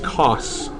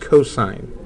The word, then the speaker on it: cos: this is not pronounced C do not say C this is ignorant say cosine even when you see only three letters it's still pronounced cosine we will say s